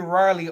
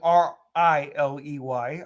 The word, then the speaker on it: Raleigh: know kyle riley and i don't mean riley r-i-l-e-y i'm somebody riley like raleigh north carolina that's exactly how it's spelled kyle riley who is